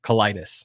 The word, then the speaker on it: Kelaidis: promise all right how do you say your last name colitis colitis i got that right yeah i thought it